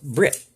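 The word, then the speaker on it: בְּרִית: word man means ish the Hebrew word for Covenant is pronounced Brit the word covenant man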